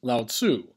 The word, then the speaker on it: Lao Tzu: was Taoism founded by loud see sometimes pronounces Lao Tzu around the 6th century